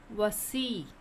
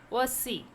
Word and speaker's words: voici: Voici. Voici means here is, or here are. What? Voici means what? Here is, here are. Voici.